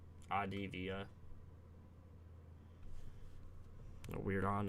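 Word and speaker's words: Avdija: It's pronounced Advia. I'll just call him Denny, bro. Like Adivia.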